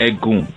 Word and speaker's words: Egun: so we have what's called the egg goon and ed goon is spelled e G u n okay and the egg